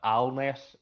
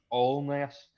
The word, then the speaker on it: Alness: i i pronounced uh allness a-l-n-e-s-s uh and was very quickly uh told by the the brothers here that it's not pronounced alness it's pronounced all mess and so if i